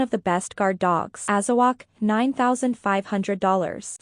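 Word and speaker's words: Azawakh: Azawak, $9,500. Say what? Pronounced AZ. Wak, members of the hound group are medium-sized dogs, 33 to 55 pounds.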